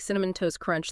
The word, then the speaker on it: Cinnamon Toast Crunch: And uh what about like Cinnamon Toast Crunch? That's a mouthful. Great example. That tea and toast often disappears between the Ns and C.